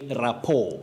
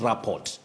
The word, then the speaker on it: rapport: So, Abdirizak Kontoma, you say rapport, not rapport.